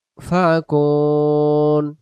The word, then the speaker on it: يؤفكون: خلقهم ليقولن الله فأنا يؤفكون এখানে হবে ইউ হামজার অক্ষরটা উচ্চারণ হবে ওয়াওটা হবে না ইয়া হামজা পেশ يؤفكون ولئن سألتهم من خلقهم